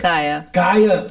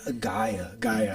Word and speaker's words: Gaia: So we're talking about the role of Gabby in Gia. I can't pronounce it. Gaia. I want to say Gia all the time. Nah, it's Gaia. It's Gaia. with an A. Yeah, Gaia.